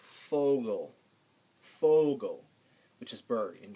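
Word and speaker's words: Vogel: now v v um V isn't pronounced V when you see a v word in German it's pronounced F like fogal f Fogo Fogo which is bird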